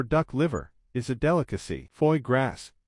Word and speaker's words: foie gras: liver is a delicacy fo grass pronounced fagra means fatty liver in French and is a food